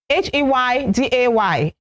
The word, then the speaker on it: heyday: H-E-Y-D-A-Y. H-E-Y-D-A-Y. It is a noun and it is pronounced heyday. So the stress is on the first syllable.